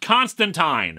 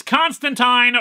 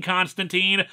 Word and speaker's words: Constantine: say it is pronounced Constantine they even put it in the comic itself that it's Constantine rhymes with wine and people were very